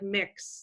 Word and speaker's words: Mx: there you'll see and that's pronounced like mix like mi X and